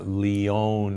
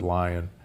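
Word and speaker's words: Lyon: humans which was called the lion heart diet or the leone heart diet l-y-o-n but most from leon france but most people pronounce it lion there that diet in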